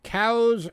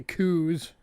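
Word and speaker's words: Coues: the stream so yeah that's the cows whitetail deer we have these in arizona when nat geo is here doing a special on then they couldn't pronounce it right they kept calling it the coos hey moving on and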